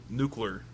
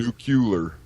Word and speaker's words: nuclear: like a like a good Republican n n nuclear yeah nuclear nucular nucular anyway all right so uh that was